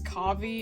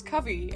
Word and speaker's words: Kavi: I know I said her name is Kavi in the actual opening part, but American Girl confirmed the pronunciation of her name as Kavi, and I don't know why I pronounced it